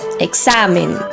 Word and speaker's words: examen: En el caso de la primera palabra, que es examen, está en la sílaba xa, examen, por lo que la palabra es grave.